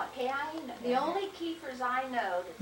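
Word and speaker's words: Keifner: on that charter, and it's written K-E-I-F-N-E-R. And they pronounced it Kiefer.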